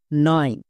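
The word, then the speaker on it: knife: long sound হচ্ছে আই তাহলে দন্তন্য plus I নাই হয়ে গেল নেক্সট এফ এফ এর জন্য ফো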